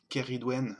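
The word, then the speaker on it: Ceridwen: Like a K. Ah. Kerry Dwen avec un S.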